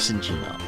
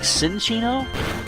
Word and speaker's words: Cinccino: M before C, Minccino becomes Cinccino. Or is it Cinccino? I would think Cinccino, but then I'm making a ch sound with 2 C's, because,